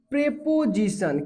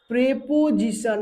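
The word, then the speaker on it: preposition: Verb, four adjective, 5 adverbs, 6 प्रेपोजिशन। क्या क्या? प्रेपोजिशन, नॉट प्रीपोजिशन, प्रेपोजिशन, प्रोनाउंसिएशन याद रखना।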